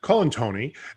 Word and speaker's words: Colantuoni: god yeah well the the u is silent we've only talked a hundred times so colin tony and they are the